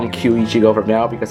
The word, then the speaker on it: Kyu Ichigo: just gonna call him q ichigo from now because that's how you pronounce it in japanese so kiwichigo has the